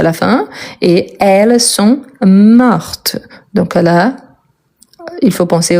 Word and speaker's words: morte: fin elle est morte je prononce bien le T parce qu'il y a la marque du féminin donc oui ici c'est